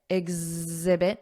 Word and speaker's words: exhibit: model are demonstrate exhibit exhibit notice that Z exhibit exemplify Z exemplify and show and remember here